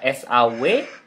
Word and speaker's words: saw: Kemudian see, melihat, menjadi saw, ya, S-A-W. Kemudian verb 3-nya adalah seen, S-E-E-N, ya. See, saw, seen, ya, saw. Betul sekali. Saw itu W-nya tidak dibaca ya.